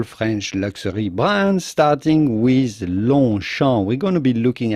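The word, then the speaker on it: Longchamp: french pronunciation so long note that the g and the p are at launcher are silent as is often the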